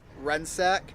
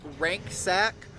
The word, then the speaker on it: Rensac: heard growing up was the last name is rensac so everybody sees it and they pronounce it rank Sack or the other one that I'll hear is ransack and that's yeah you